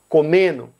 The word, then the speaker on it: comendo: um O no final, a letra D ela desaparece. Então, para outros verbos também, fazendo, ele é pronunciado fazendo, mais naturalmente. Comendo é pronunciado comendo. Isso, é claro, não acontece com a mesma proporção em todas as regiões.